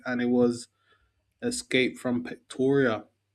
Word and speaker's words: Pretoria: we spun it and it was Escape from Ptoria. Yep, that's how it's pronounced.